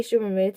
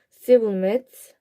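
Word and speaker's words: שִׁבֹּלֶת: They said, "All right, say Shibboleth." If he said Sibboleth, because he could not pronounce the word correctly.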